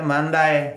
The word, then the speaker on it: mandar: bahasa bakunya artinya perintah Nah kalau dalam pengucapan Portugis itu itu dibaca mandai mandai mandai r-nya enggak disebut jadi dan penekanan ke e dibacanya mandai jadi mandi gitu Nah